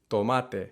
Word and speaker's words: tomate: or don't quite notice the pretty big difference in the way that for example teas and l's are pronounced in spanish versus english take tomato and tomate lemon and limon lemon limon these are relatively low